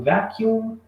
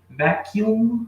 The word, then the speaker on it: vacuum: Isso aqui é o vacuum cleaner. Pronúncia vacuum, ó, vacuum cleaner, ok?